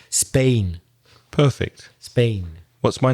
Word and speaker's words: Spain: So yeah, the vowel sound of Spain is A, the same as in words like plane and rain and same and my name.